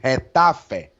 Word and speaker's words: Getafe: Yeah, you don't know what to expect from this Getafe side, how number one likes to say, Getafe. This is how they pronounce it in La Liga.